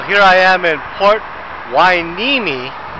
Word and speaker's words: Hueneme: I am in Port wiimi uh strange pronunciation for the name but let's